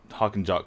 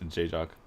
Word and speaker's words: J-Jock: I always wanted to go talk about the Hawk and Jock combo, but apparently it is pronounced J-Jock.